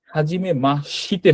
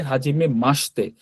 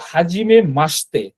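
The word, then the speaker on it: はじめまして: কিন্তু এটার উচ্চারণ হাজিমে মাশিতে হবে না। এটার উচ্চারণ হবে হাজিমে মাসতে।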